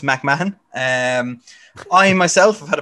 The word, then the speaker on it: McMahon: surname is is unpronounceable i'll accept mcmahon but it is pronounced mcmahon um i myself have